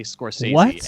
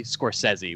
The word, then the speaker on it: Scorsese: You cannot say Scorsese and get points on Jeopardy. You have to say Marty Scorsese, which is apparently the correct pronunciation.